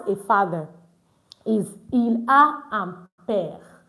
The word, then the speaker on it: père: Il a un père. You see that I did not pronounce this E at the end.